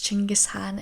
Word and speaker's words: Chinggis Khan: Also, I want to just mention that Genghis Khan's name is pronounced as Chinggis Khan in Mongolia.